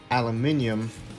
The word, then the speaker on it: aluminium: now is actually put some aluminum tape or how the british say it aluminium i'm gonna put some